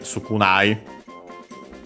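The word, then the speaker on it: 少ない: Then we have the adjective sukunai, which means few, little, small amount, low, and so on. But yeah, the fundamental meaning, few, little, as in the sense, should be accented.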